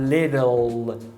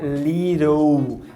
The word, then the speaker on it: little: A gente que é brasileiro, quando tem esse L, a gente gosta de pronunciar O, né? People, Google. Só que em inglês o L, ele é velar, ou seja, você precisa subir a língua.